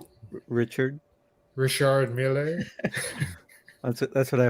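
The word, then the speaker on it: Richard Mille: up uh good uh good brand here to pronounce richard richard miele that's it that's what i heard i actually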